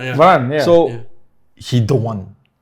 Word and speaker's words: Varane: I pronounce correct. Varane, yeah.